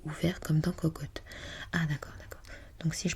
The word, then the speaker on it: cocotte: Et lorsque je prononce donc cocotte, je suis censée l'ouvrir.